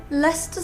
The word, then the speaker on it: Leicester: out more pronunciation problems Leicester Square in London that's perfectly ludicrous look at this one it's written la ice stir and pronounced Leicester to rhyme with Uncle Fester that's not on either